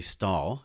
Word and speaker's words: Stahl: about this is the one and only ashley stahl i pronounced your last name correct yeah so the